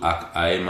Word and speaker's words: Ham: la seva vibració s'escriu H-A-M, la H es pronuncia com una J espanyola, HAM, repeteixes mentalment 3 vegades, HAM, HAM, HAM.